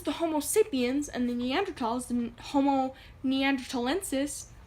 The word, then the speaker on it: Neanderthal: heard of the term Neanderthal but that's some because actually it's pronounced Neanderthal and when people say Neanderthal they're usually talking about